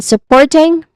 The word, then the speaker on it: supporting: And then supporting, three syllables. We stress on the second syllable here, but the first syllable is so, which is a soft vowel sound, schwa sound.